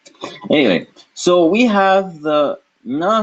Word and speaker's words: न: Remember way back when we said that Mr. Na is pronounced using the tip of the tongue touching the teeth.